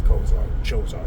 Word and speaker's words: Chozzar: through Atlantean magic magic he is known as Kar choar some people say too depending on how you pronounce it in English uh I prefer the har sound the clar especially when you're doing mantras it flows better um so that's that's